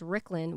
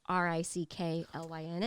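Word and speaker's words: Ricklynn: because my real name my full name is ricklin which is spelled r-i-c-k-l-y-n-n all right oh right okay and then ricky i don't know why my mom spelled it riki but that's what it is shorter same time rick lynn not ricky lynn it's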